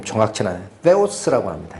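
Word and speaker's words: θεός: 그래서 뭐라고 돼 있냐면 가지라라는 말이 있고 믿음이란 말이 있는데 그걸 수식하는 하나님을 이게 발음도 좀 정확치 않아요. theos라고 합니다.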